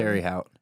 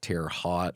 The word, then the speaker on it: Terre Haute: Terry Hout. Yeah. Terry Hout. Terry Hout, Indiana. Yeah. I didn't even know how to pronounce it for the longest time. I thought it was like Terre Haute or something.